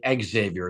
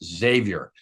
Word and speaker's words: Xavier: No, you cannot pronounce the X. No, my youngest one has said that several times. And all the people at New Mexico mispronounce it every single time. So, I've tried to explain to them like, you cannot say exavior. It's Xavier. So, I remember doing the